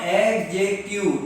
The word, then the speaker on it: adjective: And I have told you, it is not adjective. D is silent. In the spelling adjective, D is silent.